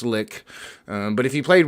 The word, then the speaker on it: lich: played world of warcraft they mispronounced it maybe i'm mispronouncing it now but i i think it's pronounced lick um but if you